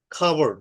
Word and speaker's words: cupboard: next is a cat cat cup car call coin cool or cupboard হ্যাঁ খাবার্ড, এখানে আমাদের খাবার্ড উচ্চারণটা হবে খাবার্ড।